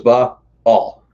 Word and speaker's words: Baal: So it's Baal, two syllables.